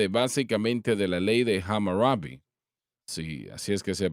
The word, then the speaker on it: Hammurabi: Dios estaba basada básicamente de la ley de Hammurabi. Sí, así es que se pronuncia.